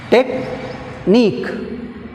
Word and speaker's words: technique: Technique, technique, here also nique is last syllable, we have stress on nique.